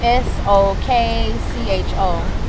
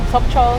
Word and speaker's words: Sokcho: S O K C H O. I might be saying it wrong. Sokcho Sokcho Sokcho Sokcho And Seoraksan Mountain is there.